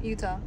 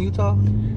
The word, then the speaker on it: Utah: Utah no it's not it's not said like you don't say udah duh I know it's Utah Utah yeah okay